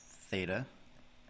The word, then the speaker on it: theta: The first thing, this symbol right here is pronounced theta.